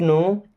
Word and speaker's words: know: Okay, I don't नो एट ऑल, I don't नो means मैं नहीं जानता या मुझे नहीं पता, एट ऑल का मतलब बिल्कुल। अब इस नो वर्ड में के साइलेंट होता है।